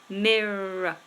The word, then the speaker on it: mirror: pronunciation when a word ends in e r a r o r even we don't PR pronounce the letter R it becomes awah sound and awah is simply uh very easy it's because this syllable is weak and we usually replace weak syllables if they're vowel sounding with a schwas sound so for example mirror as we've just talked about mirror see how I just do the uh at the end mirror so you don't want